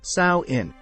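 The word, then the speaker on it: Samhain: ghost busting the Celtic Festival of Sinn Sinn often pronounced sa in was a big deal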